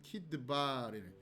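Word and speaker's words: כדבר: 자, 그리고 발음은 어떻게 하느냐? 키드바르로 발음한다. 이렇게 생각하시면 됩니다.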